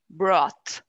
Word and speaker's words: brought: more with more force the vowel sound is less of an o and more of an ah brought exactly right yeah okay